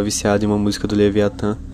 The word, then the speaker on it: Leviathan: Leviathan, ou Leviathan como eu prefiro pronunciar, assim como outras bandas de DSBM, aborda temas sobre depressão e melancolia profunda.